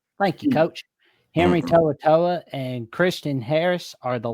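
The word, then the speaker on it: To'oTo'o: Henry toa toa. Thank you, coach. Henry toaoa and Christian Harris are the latest examples with Jahed Campbell set the show.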